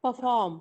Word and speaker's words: perform: Perform. Sorry. Perform. What? Perform. Perform. Perform. Again. Perform. Perform. Perform. Perform. Here, the second syllable is for. Right. Yes. So you have to say perform.